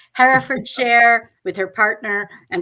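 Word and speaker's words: Hertford: writers she lives in Herford I'll say it right Harford share with her partner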